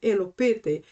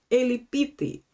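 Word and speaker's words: ἐλυπήθη: This word elopete, and by the way, here we have two pronunciations. I am using the old pronunciation, which is elopete, but the modern pronunciation for this word is elipite.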